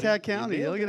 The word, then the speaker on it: Klickitat: I can't even pronounce some of the other counties, but Wasco and Klickitat? Does that sound right, Ted? You nailed it, buddy. Klickitat County.